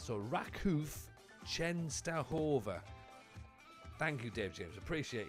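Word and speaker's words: Częstochowa: Dave James says Chenova. That makes more sense. So, Raku Chenova, thank you, Dave James. Appreciate you. That makes sense. That's where we are. Raku Chenova.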